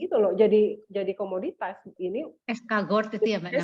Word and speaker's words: escargot: Escargot itu ya Mbak namanya. Escargot. Iya. Tapi saya bacanya sesuai tulisan, ternyata harus baca protein Inggris ya.